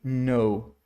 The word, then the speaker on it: know: Começou com K e N junto, não lê o K. Então seria aqui, olha, let me know.